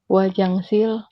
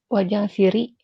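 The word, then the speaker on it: 화장실이: Yoginan Wajangsili Anim Wajangsili. Chili. Hah? Realnya naik, berarti dibacanya menjadi Wajangsiri ya, wajang ciri.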